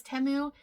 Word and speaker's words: Temu: if you are new timu temu I say your name right and I let everyone know that the correct uh pronunciation is temu uh you need to